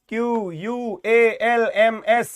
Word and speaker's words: qualms: QUALMS, L silent है, qualms.